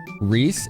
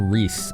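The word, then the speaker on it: Riesz: Reys. It's pronounced Reese.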